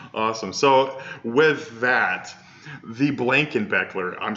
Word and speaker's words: Blankenbecler: So with that, the Blankenbecler, I'm saying it correctly.